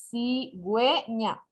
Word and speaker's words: cigüeña: Y acá, de igual manera, es cigüeña. No se puede pronunciar cigüeña, porque ya con la diéresis, es decir, con los dos puntitos, se están uniendo las dos vocales que tenemos.